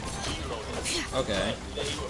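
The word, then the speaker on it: Xilonen: The X in English is pronounced either Z or X. Zelonian. Not Spelonin, it's Zelonin.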